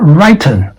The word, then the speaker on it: written: But this is not written.